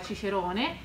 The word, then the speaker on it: Cicero: E ad esempio quello che noi leggiamo Cicero, che significa Cicerone, loro non lo sapevano pronunciare in questo modo, lo pronunciavano con la gutturale, cioè col K.